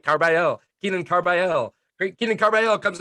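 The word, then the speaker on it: Carbajal: Carbayal. All right, Carbayal.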